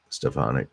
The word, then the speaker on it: Stefanik: trump supporter elise stefanik some people pronounce it stephanie stefanik i like it stephonic uh she is um